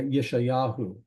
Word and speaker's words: Isaiah: got Isaiah listed here Isaiah yeshayahu yes yahu this how you say Isaiah in Hebrew but that Yahoo at